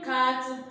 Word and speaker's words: carte: So on the board, the first one we have there is une carte postale. Une carte, so you know that I'm pronouncing the T here because it's not the last word, letter there.